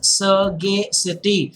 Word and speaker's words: sagacity: study here guys sagacity learn it with the proper sound it makes the pronunciation is sergey city it means wisdom and